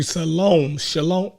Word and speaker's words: shalom: Shalom. How you say it? It's shalom.